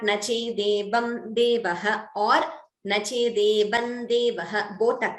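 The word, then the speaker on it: देवं: So therefore the Visarga, the Anuswara gets replaced by the Anunasika of that Varga. So instead of Nache Devam Devaha, we chant it as Nache Devan Devaha.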